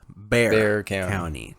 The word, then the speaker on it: Bexar: and so then now the county is called bear not bexar county for you outsiders it's bear county um yeah kind of like that you